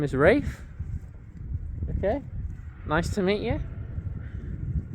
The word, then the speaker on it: Rafe: So my name is Rafe. Okay. nice to meet you. And I thought might as well get up to say my name because it'll be on the book. So there you go, Rafe, R-A-F-E, Rafe.